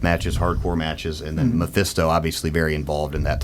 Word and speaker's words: Mephisto: Mephisto? Mephisto.